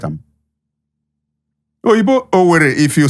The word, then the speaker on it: Owerri: What is the corruption of Owerri? Or Onisha? What is the corruption? Not be so Igbo right am. Igbo Owerri, if you say Owerri, O-W-E-R-E.